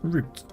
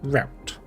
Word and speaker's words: route: It's pronounced R R O U T is pronounced root, not route.